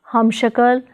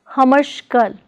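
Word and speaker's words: ਹਮਸ਼ਕਲ: Prefix hum plus shakal is pronounced as hamshakal, not as hamashkal, but as hamshakal.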